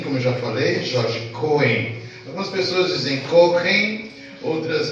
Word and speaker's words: Cohen: Paraná, e era Jorge Schoen, foi um erro de grafia e de pronúncia, tá? É Cohen, né?